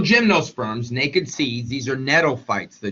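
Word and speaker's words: gnetophytes: naked seeds these are nof fights the G is uh the g is silent uh tropical live in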